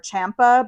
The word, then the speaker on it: Ciampa: as to whether they were saying Ciampa or Ciampa, but now it sounds like they've all unified saying Ciampa. So I guess I will also say Ciampa.